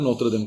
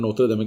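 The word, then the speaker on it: Notre Dame: तो it's very important, नोत्र डेम castle. दमे बोल दिए, डैम बोल दिए, एक ही बात है, वो प्रोनाउंसिएशन में फर्क है।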